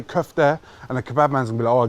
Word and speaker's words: kofte: my friend cuff there or kofta it's cuffed yeah when you order a cuff there in a kebab shop say cuff there and the kebab man